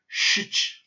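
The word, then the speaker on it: щ: This one looks very similar to the sh and is very similar to the sound sh, but it's actually pronounced shich, shich, or shia, shich.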